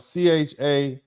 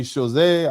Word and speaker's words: Chazotte: Chazot, and that's spelled Chazotte. I'm not going to try to pronounce it like I'm French. I'm going to pronounce it like an American. Chazot. Maybe Chazé, I don't care.